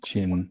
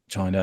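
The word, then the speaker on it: Qin: So the first imperial dynasty, the Chin dynasty, I think is how you pronounce it. It's Q.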